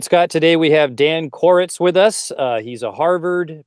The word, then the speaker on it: Koretz: And can you just for our for me to make sure that we pronounce your name right, could you pronounce it for us? Dan Koretz.